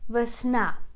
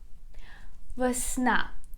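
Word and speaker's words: весна: in ukrainian language is versna versna again we put a stress on the last syllable please repeat after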